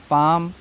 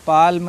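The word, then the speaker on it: palm: वाले को काल्म बालम पाल्म ऐसे पढ़ते रहते हैं ऐसे नहीं पढ़ना है क्यों क्योंकि एम से पहले एल आया है ना तो एल साइलेंट है मुख है उसका प्रोनाउंस नहीं करना है आपको ठीक है भूल जाइए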